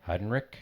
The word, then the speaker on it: Heidenreich: interesting fact that interesting stat about Eli Hein I still don't know how to pronounce his name. Heidenreich.